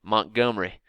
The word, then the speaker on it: Montgomery: in Montgomery Alabama and you can't say it Montgomery you got to eliminate the e even though there's an e in there you can't pronounce it that way it's going to be Montgomery Montgomery it's like there's